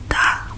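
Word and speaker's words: 大: And the pronunciation of this character is da. Da. It's really simple. It's just D-A.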